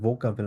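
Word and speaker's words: Vokabel: তবে ভোকাবেল টেস্ট হয়তো বা এটা একটা হচ্ছে কিছু একটা এক্সেপশন ওয়ার্ড, এটা যেটা ডিরেক্টলি ফোকাবেল না বলে এটাকে ভোকাবেল উচ্চারণ করা হয়।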